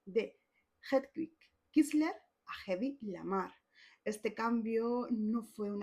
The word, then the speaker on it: Lamarr: actriz Bárbara Lamer y que Meyer lo que se aseguró es que fuese pronunciado como Lamar para sonar más suave y más glamuroso en este Hollywood de las estrellas.